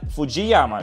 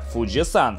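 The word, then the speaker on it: 富士山: 1609 годом а еще в русском языке часто говорят fujiyama что они совсем верно в японском гора называется фуджи-сан так как 3 иероглиф читается именно как сан они яма лучше всего произносить просто гора fuji чтобы не получалось масло масляное после прогулки на лодке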